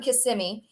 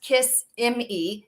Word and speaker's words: Kissimmee: this one was from Kissimmee um not pronounced kiss m e it's Kissimmee it's all one word okay um it's not kissing me Kissimmee one whole word so there's Kissimmee Florida